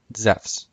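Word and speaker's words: Ζεύς: accent is on sous Zeus would have been pronounced the same way as it is in modern Greek zephs in classical Greek which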